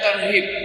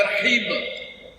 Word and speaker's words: tarhib: Cuman kadang-kadang membacanya agak salah. Bacanya tarhib, mestinya tarhib. Kalau bacanya tarhib itu dari rahaba. Itu menakut-nakutin artinya. Sama di irtihab teroris. Tapi kalau tarhib itu dari marhaban, itu ucapan selamat datang, marhaban ya Ramadan, selamat datang ya Ramadan.